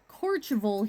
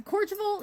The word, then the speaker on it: Courchevel: And that's Courchevel is how they pronounce it. It's probably something completely different, but that's how Google Translate says it.